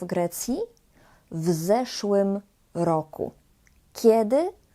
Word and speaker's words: w zeszłym: W zeszłym roku. Kiedy? W zeszłym roku. Co? Zeszły rok. Uwaga, jeśli chodzi o wymowę, to pamiętajcie, żeby mówić w zeszłym, razem. Nie w zeszłym roku, tylko w zeszłym roku.